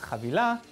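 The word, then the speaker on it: חבילה: So today, our word of the day is chavilah, which is how you say package in Hebrew.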